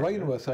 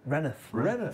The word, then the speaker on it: Rainworth: I'm not going to say Rainworth ain't right, is it? It's called Renneth. I told you this. You didn't believe me. Yeah. I know, but I needed a second opinion on it. It's pronounced Renneth.